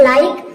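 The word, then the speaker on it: like: है ये हो जाएगा एल का हो जाएगा ल और आई का हो जाएगा आई और के का हो जाएगा क यहां पे ई साइलेंट है तो ये हो जाएगा लाइक लाइक मींस क्या होता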